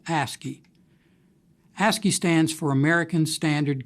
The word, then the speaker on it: ASCII: oldest such character encoding scheme is called ascii pronounced ascii ascii stands for american standard code for information